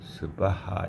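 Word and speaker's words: svāhā: 스를 아주 짧게 발음한다. 자, 그러면 이 발음으로 항상 가테 바라 가테 바라상 가테 보디스바하. 시옷이 잠깐 오기 때문에 스바하 이렇게 한다고 했죠.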